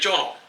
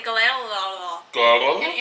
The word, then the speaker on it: Gyllenhaal: Jake Gyllenhaal. I can never pronounce it. I always want to say Galal.